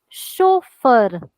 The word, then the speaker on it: chauffeur: are learning now is if there is ch it sounds like sure so another rule that